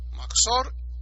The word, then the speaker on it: Mahzor: Mahzor, y lo escribo porque hay gente que lo está pronunciando mal, Mahzor, con Het, Mahzor. El Mahzor viene de Joser,